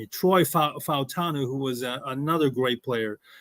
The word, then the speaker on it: Fautanu: I also put the name of Troy Fanuatu. I believe I'm pronouncing it correctly. From Fautanu, Troy Fautanu, who was another great player coming out of